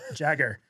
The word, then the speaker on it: Jagger: he he was like it's pronounced like my Uncle Nick's last name Jagger and I was like